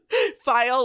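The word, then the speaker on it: phial: garlic one file yes this is how it's spelled file is spelled p h i a l what kind of unit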